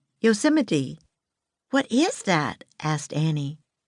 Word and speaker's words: Yosemite: "Yosemite?" said Annie. Jack laughed. "No, it's pronounced Yosemite," he said. "Yosemite."